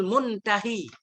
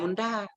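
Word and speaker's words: منتهي: Wa yusammal ismul muntahi. Muntahi. Ada titik enggak ayahnya? Ada kan? Muntahi kita baca. Jangan kita baca muntaha.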